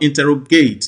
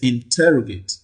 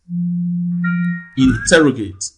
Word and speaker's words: interrogate: that word is not interrogate you don't place the primary stress on the last syllable here it is interrogate interrogate now i mentioned a